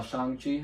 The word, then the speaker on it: Shang-Chi: Uh Shang-Chi, I guess I should say that's how it's pronounced.